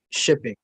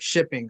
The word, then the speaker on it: Shping: Yeah, it's called like shipping. So SHPING. I don't know if you found it or you could find it, but yeah.